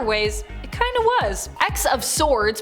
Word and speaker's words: X of Swords: it kind of was x of swords pronounced ten of swords in relation to the tarot card is a mutant event